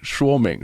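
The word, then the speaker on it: 说明: So it kind of sounds like Sean Connery sound is saying, shwimming, shuoming, swimming.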